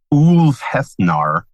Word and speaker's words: Ulfhethnar: The best place to start is our webpage, which is AK Ulfhethnar. And I'll spell it because if you hear me say it and then you go read it, it doesn't look the same.